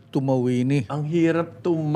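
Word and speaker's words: Tumauini: po yung ah Ano to How do you pronounce it tuma wini tuma wini Ang hirap tum H hindi hindi tuma tum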